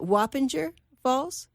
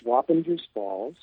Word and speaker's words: Wappingers Falls: sure how to pronounce, is it Wappinger Falls? Yeah, I live about 60 miles from this city. It's Wappingers Falls. It's named after a Native American tribe.